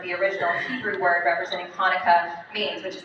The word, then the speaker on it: Hanukkah: In your program, it looks like it says Chinooka, and I know it does, but it's actually pronounced Hanukkah Festival.